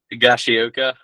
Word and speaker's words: Higashioka: I always mispronounce this. Higashioka. I don't. Higashioka. Yep, there we go.